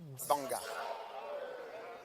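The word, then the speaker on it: Gbarnga: Alors, l'endroit suivant est banga.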